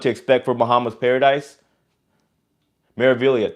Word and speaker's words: Meraviglia: Meraviglia, thank you. G is silent.